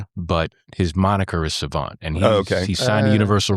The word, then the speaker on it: SXVXNT: hiphop and rap artist, Savant, which is spelled much different than how it sounds. So yeah. So how you doing, Savant?